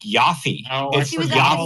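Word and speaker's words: Ioffe: she would start tweeting it's it's pronounced Yafy about that.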